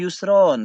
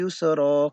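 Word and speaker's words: يُسْرًا: Yusro ma'al Usri Yusro bukan Yusron tetapi Yusroh karena tanwinnya sudah di Made You add dan cara membacanya panjang satu Alif jadi Kai lagi membacanya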